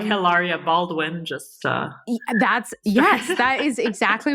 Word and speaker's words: Hilaria: But in Spanish, you would say Hilaria. You wouldn't say Hilaria, because H's are silent.